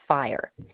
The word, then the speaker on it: FHIR: That stands for Fast Healthcare Interoperability Resources, but it's pronounced FHIR.